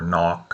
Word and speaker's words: knock: words like knife or knock, or it's not knife or knock, but the k would have been pronounced in Old Norse, but English dropped that K sound over time, and so did Norwegian,